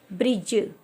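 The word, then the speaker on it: bridge: लिया जा रहा है इट मींस जब भी हमारा डी के बाद में जी होगा या जी के पहले डी होगा तो वहां पर हम डी को साइलेंट रखते हैं जी का साउंड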